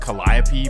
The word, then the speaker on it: Calliope: And again, it's supposed to be pronounced Calliope, but this is New Orleans. Well, the Calliope Projects, also known as CP3, was always known as a wild, wild place.